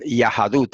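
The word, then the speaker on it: יהדות: Fíjense que incluso la palabra judaísmo en hebreo se dice Yahadut. Hasta el día de hoy en hebreo moderno se dice Yahadut. Después de la Yod va una A.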